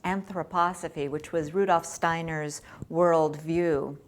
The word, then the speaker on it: anthroposophy: And based on this philosophy I couldn't even pronounce, which I now know is pronounced anthroposophy, which was Rudolf Steiner's worldview.